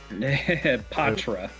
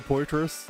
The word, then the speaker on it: Poitras: Patra. Just for son, so he doesn't lose his mind hearing people mispronounce it. I've always said Poitras, and I'm gonna stick by it because it's fun to mispronounce things.